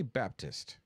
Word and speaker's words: Baptist: I say Baptist because there's a P and a T in it.